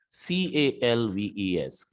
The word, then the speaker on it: calves: becomes wolves okay so for number two word and number five word l is silent the pronunciation will be half halves calf calves wolf wolves here we have